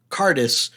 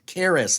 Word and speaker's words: Karis: it there it is k-a-r-i-s careless Charis like Karen with an s one okay I don't